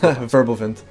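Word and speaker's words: Wirbelwind: example have the uh the ostwind and the Whirlwind um I probably mangled the pronunciation there so just every WC pronounced with a V verbal vent oh domination oh right okay Domin um and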